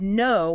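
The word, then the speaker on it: know: We also had no with a silent k versus now or new versus neo.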